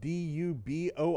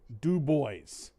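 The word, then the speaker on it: DuBois: ] here in Pennsylvania we have a city that's spelled du b o i s it's not dubo we say it the way it's meant to dub boys oh what about one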